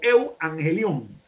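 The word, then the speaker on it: εὐαγγέλιον: Precisamente la palabra evangelio en griego se lee de la siguiente manera: eu angelos o eu angelion. Eu, que es lo que nosotros en castellano pronunciamos como ev, significa bueno, y ángelos o angelion es mensaje o mensajero.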